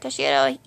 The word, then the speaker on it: Toshiro: this case, Toshiro, yeah, I said it right, Toshiro Hitsugaya, yeah, or better term is he's the captain of the 10th Division.